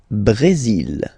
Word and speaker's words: Brésil: Le Brésil. Le Brésil. Okay, you will pronounce the final L here, and then remember, accent aigu goes like E.